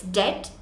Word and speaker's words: debt: it comes to Deb there's a consonant after B so you don't pronounce the b in Deb so it's debt and debit now here's